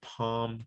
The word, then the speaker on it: palm: Now the L is not pronounced in these words.